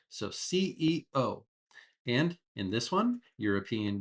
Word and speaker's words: CEO: We try to pronounce every letter in these acronyms. So CEO.